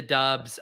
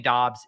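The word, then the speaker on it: Doubs: don't know if you saw this headline it's pronounced dobbs by the way he's 3k flat as well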